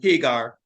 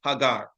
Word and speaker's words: Hagar: an handmaid, an Egyptian, whose name was Hagar, and that's the correct pronunciation. We are used to saying Hagar, but the correct pronunciation is Hagar.